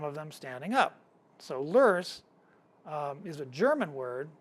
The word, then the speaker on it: loess: It's uh spelled l o e s s, but it's pronounced loess. Uh would have suffocated and buried most mammoths, some of them standing up. So, lurs um is a German word that is basically